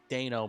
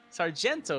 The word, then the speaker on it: Sargento: Did you just mispronounce the Sargento Bridge? Probably, because I saw it at a glance, and I was like, it's cheese. Sargento is the word I was looking for.